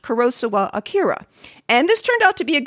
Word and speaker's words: Kurosawa Akira: and in the end, I went with my attempt at a more Japanese pronunciation of the name rather than a more typically American pronunciation.